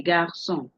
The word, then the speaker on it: garçons: to you previously that the C that has the symbol under it, the symbol under the C is called cédille, and it makes you to do what to pronounce the sound. Exemple, les garçons, les garçons. En français, en français. Parler en français, les garçons. If this cedilla were not there, you would be saying something else.